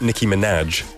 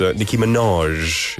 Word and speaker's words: Minaj: It's spelled M-I-N-A-J, but it's not Nicki Minaj. It's Nicki Minaj. 약간 프랑스 불어 느낌으로 말해야 되거든요.